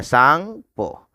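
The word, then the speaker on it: Tsangpo: TAN, T silent रह जाएगा, सांगपो।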